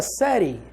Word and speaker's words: série: Eu estou na 4ª série. Série. Série. Esse E tem som de I, cara.